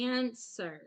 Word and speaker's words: answer: So this is answer. So the W is silent.